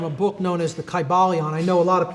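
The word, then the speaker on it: Kybalion: Y sounds, you know, it would have been a long I sound. Kaiba Leon and every syllable would have been pronounced.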